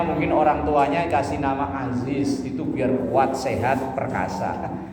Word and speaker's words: Aziz: Aziz itu Perkasa kuat tapi karena bacanya Ajis ya jadi orang loyo jadi orang leto klemarklemer itu hurufnya beda tipis pengucapannya juga beda tipis Aziz apalagi kadang kalau orang Sunda yang ngajinya enggak enggak fasih huruf Za kan jadi ja ya Iya eh